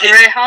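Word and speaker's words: Gomez-Rejon: Rajon? Because he's an interesting one, because he started off as like an assistant to guys like Scorsese and stuff. Right, okay, that's Alfonso Gomez Rejon.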